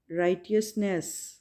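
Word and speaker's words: righteousness: एच की sound जैसे कि आपको पता है हा होती है, एच ह, तो यहाँ पे एच साइलेंट है और इसको प्रोनाउंस करेंगे राइटियसनेस, ओके, राइटियसनेस।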